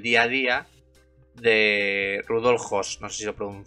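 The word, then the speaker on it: Höss: a día de Rudolf Hos pronuncio así, ¿ves? en alemán con dieris en la lado y dos eses que fue un comandante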